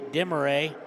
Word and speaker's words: Demaray: Foul is against number 30, Demaray. Is evidently that's how we pronounce it. I've been pronouncing it wrong the whole time.